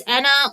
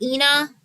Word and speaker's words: ENA: It can be pronounced as Anna or Ena. Um, personally, I do it like language based because I'm bilingual. So, I say Ena when I'm speaking English and Anna when I'm speaking Spanish.